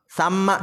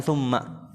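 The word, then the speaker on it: ثَمَّ: Dan dari sanalah tsamma ini dibacanya bukan tsumma.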